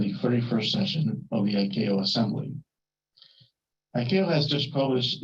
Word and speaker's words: ICAO: commonly known by our initials, ICAO, which we pronounce ICAO.